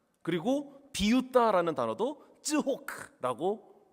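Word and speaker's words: צחוק: 이삭 이름이 이츠학이거든요. 히브리어 단어로 읽으면 웃음은 쯔호크입니다. 그리고 비웃다라는 단어도 쯔호크라고 발음합니다.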